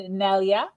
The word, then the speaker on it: Nelia: Today, I'm speaking with an amazing woman named Nelia. Is that how I pronounce that? Yes, Nelia is perfect.